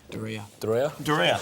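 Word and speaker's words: Duryea: Doria.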